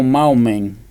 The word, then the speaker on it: Mahoman: Poi ho aggiunto una N alla fine e si scrive Mahoman, però lo pronuncio Maomen.